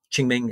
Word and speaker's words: Qingming: Confucianism and communist respect Ching Ming is spelled q-i-n-g-m-i-n-g uh Christianity um as